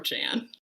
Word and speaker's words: Crochan: do you she guys oh she's a croan croan that's how you say it I it's thank